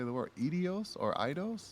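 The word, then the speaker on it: Eidos: don't even know how to say the word edios or idos idos oh idos yeah yeah and I'm like I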